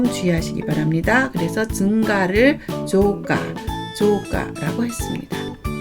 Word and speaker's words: 増加: 그리고 더할증자는 음독은 조, 훈독은 마스, 후에르, 후야스인데 음독을 조라고 읽는 점 주의하시기 바랍니다. 그래서 증가를 조가라고 했습니다.